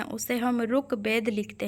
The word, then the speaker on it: ऋग्वेद: लिखते हैं ठीक है उच्चारण करते हैं ऋग्वेद लेकिन लिखते क्या है रुक वेद ठीक है रू रू लिखते हैं है ना बोलते समय हम री बोलते हैं लेकिन लिखेंगे तो रू है ना उसके बाद कविंद्र कविंद्र